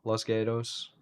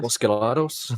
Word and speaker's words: Los Gatos: Los Gatos? No, Gatos, Gatos. I said it very gringo.